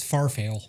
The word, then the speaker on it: farfalle: Farfalle? Farfalle. Okay. That's how I, I say never it. knew. Farfalle? For me, it's farfail. Farfail? Is there a story behind that? No, or- just how it's spelled.